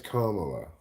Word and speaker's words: Kamala: apparently it's Kamala. Rhymes with smamala.